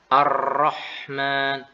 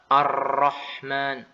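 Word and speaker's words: الرحمن: muncullah suara Arrahman bukan Arrohman Arrahman ya demikian juga huruf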